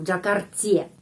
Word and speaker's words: в Джакарте: Orang Rusia tidak bilang v Džakarti. Di Jakarta, v Džakarti. Ya. Kenapa? Karena penekanan. V Džakarti, ya. Pada huruf A. Penekanannya di sini. Karena itu huruf Y, kalau tidak dapat penekanan, pengucapannya I, ya.